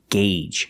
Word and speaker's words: gauge: engine is turning and remember the pronunciation gauge use the long a sound one gauge and two